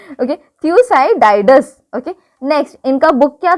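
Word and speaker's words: Thucydides: Managed history था थ्यूसाइडिस। Okay, थ्यूसाइडिस। Okay, देखो अब प्रोनाउंसिएशन क्या है, ओके देख लेना तुम लोग। ओके, थ्यूसाइडाइडस।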